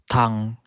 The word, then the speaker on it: tongue: And letter U can be silent too. For example, guitar, guilty, tongue.